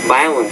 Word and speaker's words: violent: Due to the 3 minutes of violent shaking. 2 things. The word minutes, and shaking, but violent shaking. You need to pronounce the V with more vibration.